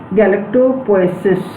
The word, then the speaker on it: galactopoiesis: Okay, galactopoiesis. समझ में आ गया? Last line is not visible, उसका आप स्पेलिंग नोट कर लीजिए, GALACTOPOIESIS, galactopoiesis.